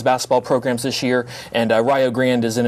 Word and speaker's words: Rio Grande: it is Point Park Rio Grande yes it is pronounced Ryo don't ask me why IU East Carlo and